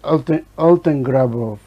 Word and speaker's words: Altengrabow: I think it's Altengrabow. If you ask me how to spell it, I can try. But that's what it sounds, Altengrabow.